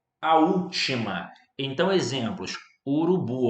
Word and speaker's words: urubu: Urubu, ó. Urubu. A sílaba tônica é a última.